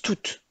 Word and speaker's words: toute: Quand il s'accorde, tout se prononce toute.